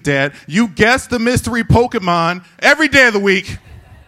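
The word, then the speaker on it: Pokémon: you know goddamn well it's not pronounced pokey man's dad you watch the show with me every day of the week dad you guessed the mystery Pokemon every day of the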